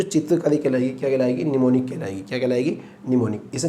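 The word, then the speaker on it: mnemonic: इसी तरह से यहीं से एक वर्ड निकलता हमारा निमोनिक्स। निमोनिक, जो एम होता है ना बेटे साइलेंट होता है।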